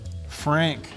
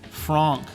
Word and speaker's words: Fran: bar next we have Frank Fran actually as I think Dylan said uh specifically to pronounce this lifter's name Fran all right casual lifter